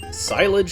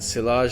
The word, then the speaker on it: Cyllage: on my first playthrough I was like silage City and that was it I moved on but I guess like I said I should probably be going more French with the pronunciations in general so here we are in Sage city um absolutely